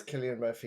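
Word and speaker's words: Cillian Murphy: well, the thing I want to say is it is Killian Murphy.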